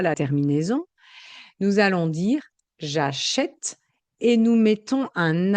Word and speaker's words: j'achète: contre, quand la finale est muette, qu'on ne prononce pas la terminaison, nous allons dire j'achète et nous mettons un accent sur le est et la prononciation est différente. Vous entendez bien, nous achetons le son E, j'achète le son est, E et est.